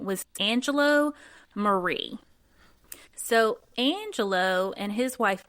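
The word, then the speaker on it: Marre: their you know their last name is uh pronounced Marie but it's m a r re so after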